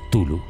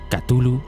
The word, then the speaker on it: Cthulhu: Lo podrás conocer como Tulu, Cthulhu, Chulu o incluso Cthulhu. No existe un consenso con respecto a la pronunciación de su nombre.